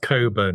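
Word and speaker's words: Cockburn: It's pronounced Coburn, right?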